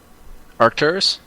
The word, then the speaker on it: Arkturus: Arkturus?